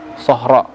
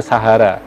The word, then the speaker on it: Sahara: Karena memang di bawah kepemimpinannya Islam mulai meluas ke Sahara. Sahra. Sahra dalam bahasa Arab berarti gurun. Namun kemudian orang-orang Barat seperti Prancis, yang menjajah di sana, membacanya sebagai Sahara. Sahara.